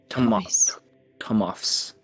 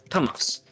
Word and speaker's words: Tomoffs: Uh, me and my husband's last name is Thomas. Thomas. Tomoffs. That's how you pronounce it.